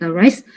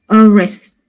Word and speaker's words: arrest: For example, like the word arrest, so we stress on the word arrest, not the word arrest.